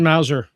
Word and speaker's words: Masur: Richard Mauser. Okay. Richard Masur. Richard Mazer. Yeah. Okay. Mazer. Rhymes with laser.